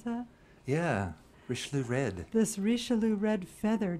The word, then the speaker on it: Richelieu: Is that how you pronounce that? Yeah, Richelieu red.